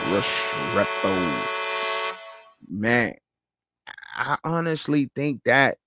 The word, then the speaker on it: Restrepo: Xavier Restrepo. You got to say it like that. Restrepo.